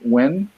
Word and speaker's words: Nguyen: I forget which part specifically, but Dustin Nguyen, I believe is how you pronounce it.